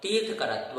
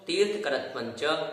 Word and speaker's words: तीर्थकरत्वञ्च: यहाँ जो तीर्थकरत्वञ्च यह पद है, यहाँ तीर्थंकर नहीं पढ़ना है, यहाँ तीर्थकर, तीर्थकर इस प्रकार से उच्चारण होगा, तीर्थकरत्वञ्च। संपूर्ण अर्थ होगा गति, जाति,